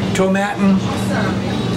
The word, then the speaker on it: Tomatin: Which happens to be Tomatin, rhymes with satin, 12-year-old Highland single malt Scotch whiskey.